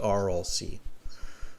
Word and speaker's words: Aral: read it i'm ready is it oral or i'll see yeah i think you're right the pronunciation is the rlc the rlc is located